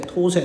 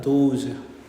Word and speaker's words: those: 도세, 토세 하면 안 돼요. 자, these는 발음교가 이렇게 되겠죠. these. 복수는요, that의 복수는 토세가 아니라 those.